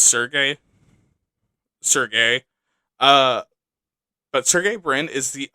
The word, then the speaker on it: Sergey: And I don't know how I know how to pronounce this. It looks like Sergey. I know it's Sergey.